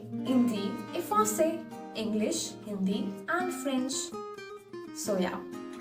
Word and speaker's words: Hindi: Hindi. H is not pronounced.